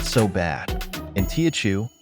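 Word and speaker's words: 八: Superstar of Chinese numbers both Mandarin ba and Cantonese bot speakers love this one because it sounds like fa Mandarin or fat Cantonese which means Prosperity want to see prices double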